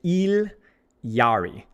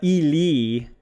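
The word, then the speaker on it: Illari: The Quechua pronunciation, I've been told by my Peruvian friend, is Iyari. So if I'm not getting the pronunciation perfect, it's the Yari. It's Il Yari. It's not, I'm not pronouncing, it's not supposed to be Spanish. Yes. So I'm butchering it because I'm white. Okay. But Idiari. It's not Ili. That's me saying the ya noise, but bleeding. Ilyari.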